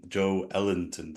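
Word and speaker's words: Joelinton: vicory oh yeah yeah he said that the pronunciation was Joe Joe Ellenton so I was like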